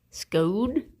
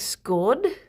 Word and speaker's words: scone: But really, it's how it's however you want to pronounce it. There's no right or wrong. I just prefer scone. Scone. But what's the other way that we were gonna? I also heard people say it like scorn, like the rhyme with Sean. Scorn.